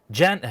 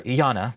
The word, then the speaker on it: Janna: katoa from the Oracle Janna here or Jana as she pronounced it here will accompany